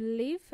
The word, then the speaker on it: live: you know the difference between to live and to leave to live VI uh in Spanish where do you live I live in Melbourne it's a short sounding e where do you live